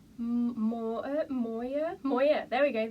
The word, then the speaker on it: Mooer: have to forgive me it's like m-o-o-e-r so i'm just going to go with like more moyer moya there we